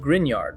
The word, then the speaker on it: Gruinard: It's pronounced Gruinard, by the way, which I had to look up because nothing about Scottish Gaelic spelling is intuitive.